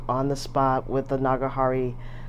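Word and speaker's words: Nagahara: I got it custom grind on the spot with the Nagahari, I think it's pronounced Nagahari, custom sig nib.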